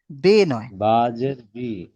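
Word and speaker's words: بِ: যে বারবার জি, আপনি বিয়ে পড়ছেন, একটু দেখবেন। কুল বিন আউযু পড়তে হবে। বিরাব্বিল ফালাক। রব্বিন ফালাক। কুল বে নয়। আউযু বি। জি। এখানে বি উচ্চারণ করতে হবে তো বে হয়ে যাচ্ছে।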